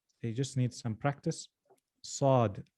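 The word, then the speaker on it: صاد: just need some practice sod sod sod sod so not sad sad sad sad you must concentrate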